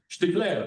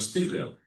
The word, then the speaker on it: Stiegler: Another person that I mentioned is the late Bernard Stiegler or Bernard Stiegler. It depends if you pronounce it the German way or the French, because he's French with a German origin.